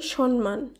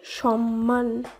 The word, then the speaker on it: সম্মান: শব্দটি রয়েছে দন্তস্ব ময়ময় আকার দন্তন্য, শব্দটির শুদ্ধ উচ্চারণ হবে সম্মান। সম্মান বেশিরভাগ ক্ষেত্রে অনেকেই বলে থাকে সম্মান, কিন্তু আমাদের বাংলা ভাষায় সম্মান বলে কোনো শব্দই নেই, তাই শব্দটির শুদ্ধ উচ্চারণ হবে সম্মান।